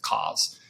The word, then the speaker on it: COZ: now gotcha tell us a little bit about cause hopefully I pronounced that correctly yeah yeah you're you're good